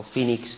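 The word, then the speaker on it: Phoenix: se fue vivir a Fénix o phenix como lo pronuncian ellos en inglés en la variante norteamericana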